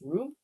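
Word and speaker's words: rheum: Wait, how do you pronounce ream? Ream? Ream. Ream. Oh, ream. Okay. Like r e u m.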